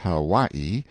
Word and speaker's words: Hawaii: on my Noble Steed Hawaii pronounced Haw stress on second syllable a beast that cost